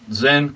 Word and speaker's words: Sinn: Now, Zen is actually spelled, it's German, so it's spelled S-I-N-N, but you say it Zen.